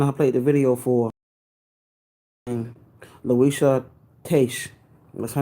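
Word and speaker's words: Luisah Teish: Louisa Taish. What's her name? You spell it Luisah. Last name is Teish.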